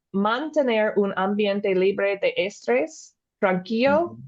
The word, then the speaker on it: estrés: What is estrés? I got to put the accent on the end.